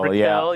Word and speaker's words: Brickell: Hey, Carol Brickell, I think is pronounced right. Brickell, yes. Yeah.